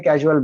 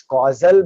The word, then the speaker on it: causal: Many people generally, they don't even pronounce it as causal body. They say gross body, subtle body, casual body. It is not casual body, Baba. It is causal body.